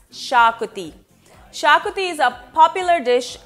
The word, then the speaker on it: Xacuti: I'm and although it is spelt with an X it's pronounced Shar cootie shakopee is a popular